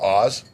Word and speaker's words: Ahz: Yeah, called Oz. Oh, okay. It's spelled AHZ.